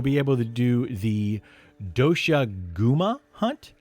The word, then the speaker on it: Doshaguma: Then after you finish that, you'll be able to do the Doshaguma hunt. Doshaguma, I believe is how you pronounce that, where you will be